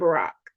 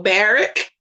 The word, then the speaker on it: Barack: went and it's crazy i went to school with a guy named barack and so i knew how to pronounce it properly but you have people barrack hey baby right yeah so yeah